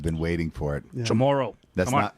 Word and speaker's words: Chamorro: Chamoran. I've been waiting for it. Yeah. Chamorro.